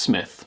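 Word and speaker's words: Smythe: Gran and Mr Carrington SMI pronounced Smith this also started a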